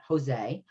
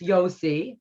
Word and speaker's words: Yosi: the um he's not jose um as we sometimes see his name um it's yosi uh the j is silent if your haggadah has his name spelled that way um so now you